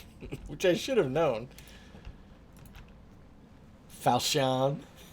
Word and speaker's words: Falchion: Falchion. Which is apparently just pronounced falchion. But I was like, Falchion? I was pronouncing it all fancy.